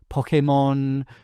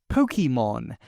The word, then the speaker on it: Pokémon: magic e trick function of a silent e as an orthographic marker that lengthens the preceding vowel turning o into o but instead gives it a more European e inflection where the e is pronounced and in fact given a slight emphasis po. But the American 4Kids dub of the anime went with Pokemon as if the E does follow the VCE pattern, turning the O into O.